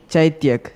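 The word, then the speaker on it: Chaithyak: it's a noun and if you want the correct pronunciation it is chaityak c-h-a-i-t-h-y-a-k hello this is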